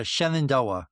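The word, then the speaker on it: Shenandoah: your book is called up the Shenand uh Shenandoa, right? Yes. Okay. Did I Did I pronounce it right? You did. Yes. It's it's named after the Shannondoa River in Virginia and the Shannondoa Valley.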